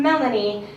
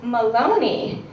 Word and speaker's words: Maloney: my name is Melanie my name is actually Maloney and before you know I'd start the show um let me just get something straight yes it does rhyme with baloney um because ever since